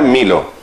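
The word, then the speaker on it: μήλο: Se pronuncia milo, la manzana.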